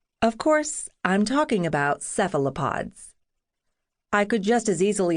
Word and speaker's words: cephalopod: The accent is on the first syllable. Sephalopod. Some folks in the UK and Europe honor the words ancient Greek heritage with a hard C. Kealopod.